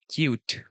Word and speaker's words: Qt: So cute written as Q E but it's pronounced at cute.